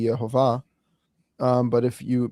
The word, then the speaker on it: Yehovah: So I think if we go with the Jewish pronunciation of letters currently, where the Vav is a V sound, then it would be Yehovah.